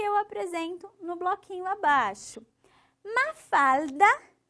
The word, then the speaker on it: Mafalda: Ó, eu quero um L assim bem forçado aqui, ó. Mafalda, Mafalda, certo?